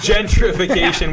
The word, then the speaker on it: gentrification: It's gentrification. Is that how you say it, Ryan? No, I can't say it. You butchered it so bad. I can't put it back together. It's gentrification with a T.